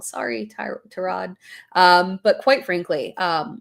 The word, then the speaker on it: Tyrod: And quite frankly, um Terrod Taylor, I always say his name wrong. Sorry, Ty Trod.